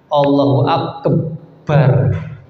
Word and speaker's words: Allahu Akbar: panjang pendeknya sudah tertentu ketika lafaz Allah maka pada lam jalalah yang Allahu akbar tidak boleh dipanjang-panjangkan bukan pada tempatnya jamaah